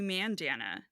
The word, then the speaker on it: Mandanna: ma man it's actually Mandana oh well I mean she's British so she says I pronounce Mandana so that it rhymes with bandana God it's like she